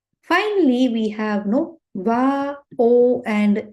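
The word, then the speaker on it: を: o but pronounced as o right we already have one r e a o right this particular hiragana also it is pronounced as o but when you type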